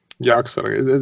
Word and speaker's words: Yogg-Saron: Yogg-Saron.